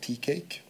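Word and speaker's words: TCIAIG: and ai in games properly pronounced teacake which you can get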